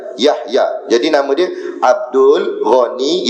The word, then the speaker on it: Yahya: Saya tengok kitab Jawi, dia tulis Kaf Yaya, bukan Kaf Yaya, Yahaya sebenarnya. Yang Rumi tak ada masalah hasilnya. Rumi tak ada masalah sebab dia tulis ABC dah. Yang ni ejaan sini, dia tulis Kaf Yaya, bukan Kaf Yaya, tapi betul kan? Yahya.